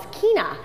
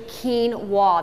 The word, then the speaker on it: quinoa: and that is quinoa oftentimes people want to pronounce quinoa is quina but it's actually quinoa that's the pronoun that's the correct pronunciation of